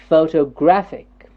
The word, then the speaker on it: photographic: next word is photographic here the graph is getting the stress photographic photographic photographic it's a four syllabic word photographic photographic yes the stress syllable here is the third syllable do we see a